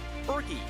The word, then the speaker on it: Burgie: Bergie should say Bergie likes to have his name pronounced that way.